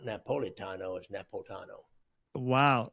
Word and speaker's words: Napolitano: his cousin and somebody else mentioned I I pronounced it wrong Napolitano yeah it's not you don't pronounce that eye not not Napolitano is nepot Tano wow it's well then that means it's almost